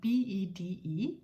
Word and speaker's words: bede: You can say må jeg bede om. It's spelled B-E-D-E, but we pronounce it bede om.